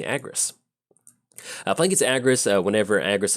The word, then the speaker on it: Agrus: Playing against Argus, I think that's how you say it. Yeah. Agrus? No, excuse me, Agrus.